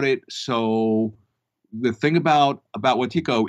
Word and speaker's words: Wetiko: So Wetiko, which I said Wetiko, but it's pronounced Wetiko.